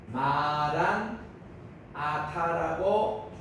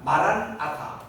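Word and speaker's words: Maran atha: 그래서 이거를 그대로 번역하면은 마란 아타라고 발음을 하는 게 정확한 발음입니다. 이거는 이제 영어식으로 다 붙여가지고 마라나타라고 우리가 흔히 얘기하잖아요. 마라나타이라면은 조금 이제 현지 아람 사람은 잘 모릅니다.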